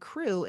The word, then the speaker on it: Krewe: And crew is spelled Krewe and then of Boo, B-O-O.